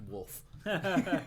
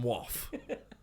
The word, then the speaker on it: Waugh: So if you're reading it wrong, it could be pronounced Wolf. Waff.